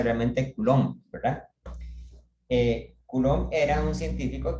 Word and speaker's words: Coulomb: U en español y me parece que la B no se pronuncia. Entonces el nombre se pronuncia realmente Coulomb, ¿verdad?